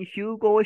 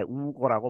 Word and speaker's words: Hugo: Under 누구 하에 The Guidance of Former Venezuelan Leader, 이 베네수엘라 전직 대통령 지도자인 휴고 샤베스, 이 스페니쉬에서 이 H가 무금이기 때문에 우고라고 발음이 들리죠.